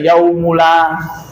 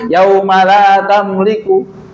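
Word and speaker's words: يَوْمَ لَا: Padahal kami dulu salah itu yaumala, anak baca yaumula, nggak bilang, mau cuma gitu doang. Padahal salahnya cuma apa? Harokat. Harusnya kan yaumala tamliku. Anda bacanya apa? Yaumula.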